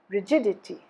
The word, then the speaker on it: rigidity: the first syllable rigid rigidity rigidity stress is on the second syllable rigidness rigidness stresses again